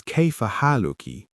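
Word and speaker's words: كيف حالكِ: For a woman, it's Kayfa haluki with a ki sound at the end.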